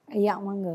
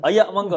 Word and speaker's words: Ayaq Mangga: Ayak Mangga. Ayak Mangga. Memang kena pronounce dia macam tu lah.